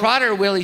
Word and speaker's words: Prader-Willi: Prader-Willi syndrome. And then So- Prader-Willi syndrome.